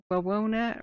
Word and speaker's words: Wawona: Wawona rhymes with Winona.